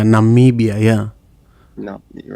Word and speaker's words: Namibia: something about his country not nabibia is that's the correct pronunciation yeah yeah Namibia yeah no you're right